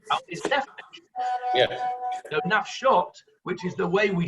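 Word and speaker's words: נפשות: But if we're going, what Rabbi Akiva is saying is that we are going according to it's pronounced, which is nafshot.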